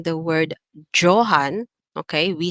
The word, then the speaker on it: Johann: The first letter there is the letter J, and the letter J is actually pronounced in the German language as Y. So, for example, instead of saying the word Johann, okay, we say Johann.